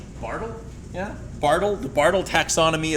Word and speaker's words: Bartle: called the uh I don't know how to pronounce this person's name. Bartle. Bartle.